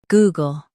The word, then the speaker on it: Google: Goo gull, Google Stress goo and keep gull light.